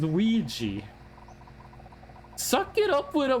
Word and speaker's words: Ouija: It's spelled Ouya and it's pronounced Ouija.